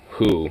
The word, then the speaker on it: Hu: It's HU, who, like, it's a Hunnic rock band.